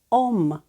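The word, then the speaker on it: Homme: перед о перед а А це у нас літера H і вона ніколи не читається Як тільки ви бачите цю літеру на початку слова або десь всередині взагалі її не помічаєте її для вас не існує Яскравим прикладом буде слово яке ви неодноразово бачили на чоловічих парфумах Ома Я починаю читати з другої літери правда легко Зверніть увагу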